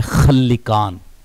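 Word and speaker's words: خلکان: تلفظ سامنے آئے۔ لیکن جو رائج ہے اور جو زیادہ تر پڑھا گیا ہے اور جس کے تلفظ کی طرف زیادہ تر علماء اسلام گئے ہیں وہ ہے خلقان، خا کے فتح کے ساتھ اور لام کی کسرہ کے ساتھ خلقان۔ تو اس کو ہم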